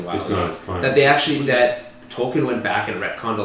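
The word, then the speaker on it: Tolkien: ever pronounced it's not token anybody who speaks English should pronounce it I'm saying no one's pronounced it like you just did does it matter though we could all agree that it's not token I'm just saying a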